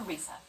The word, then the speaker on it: り: It's like a mixture between an R and an L sound. Ri. Ri. There's no such sound in English, but most people would